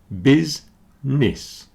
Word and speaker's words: business: very busy and dizzy business has two syllables and they both sound like the letter I bisness okay the middle syllable